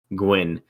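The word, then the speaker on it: Nguyen: it where is it n-g-u-y-e-n it's an gian and and gaian gwen gwen is a very common vietnamese family name and usually first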